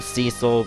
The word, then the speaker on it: Cecil: of the game cile some call him Cecil but he's pronounced cesil in the DS version so I'm going to call him cesil and I don't want